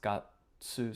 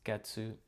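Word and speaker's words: 月: Sometimes it's pronounced gatsu, sometimes it's getsu.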